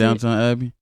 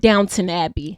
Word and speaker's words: Downton Abbey: Downtown Abbey. I did not see this look, and it's called Downton Abbey, not downtown. Oh. There is no W at the in the Dunton. T. It's TON.